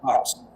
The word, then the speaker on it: coxswain: Just like the job that we that was spelled c o x s w a i n Uh-huh. Coxswain. Right.